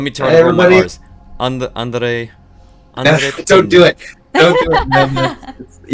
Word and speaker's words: André: André. Don't do it. Don't do it. You're not supposed to roll your R on this one. Damn it. Only in the double R's in Spanish.